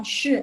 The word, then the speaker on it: 谁: Habis itu yang shi, shi, shi, bacanya lebih bulat. Jadi lidahnya kayak naik, tapi dia nggak sampai ke langit-langit, tapi dia nggak menyentuh langit-langit. Jadi shi, jadi makanya dia bisa bulat.